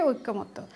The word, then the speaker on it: ঐক্যমত্য: ঐক্য শব্দে জফলা আছে, কিন্তু ঐক্যের সাথে যখন মত যোগ হবে তখন ঐক্যমত্য শব্দটা সঠিক উচ্চারণ হচ্ছে ঐক্যমত্য।